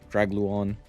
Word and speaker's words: Dragluon: Yes, that's how you say its name. Dragluon as opposed to Drag Drag Drag Lubon or something of that nature.